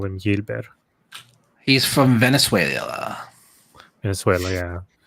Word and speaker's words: Yilber: don't say this right is it y yilber Diaz I guess it would be yilber Gilberts is he like Dominican per or something because the way they do it they they phonetically spell the names out so that you're going to see a lot of Y but with the Y and stuff like that so it should be yilber so I'm guessing the